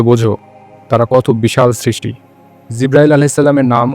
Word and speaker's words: জিব্রাইল: জিব্রাইল আলাইহিস সালামের নাম ও মর্যাদা সম্পর্কে তোমাদেরকে বলি নামের বিভিন্ন উচ্চারণ আছে জিব্রাইল জিব্রাইল জিব্রাইল ইত্যাদি জিব্রাইল শব্দের ব্যাখ্যা করেছেন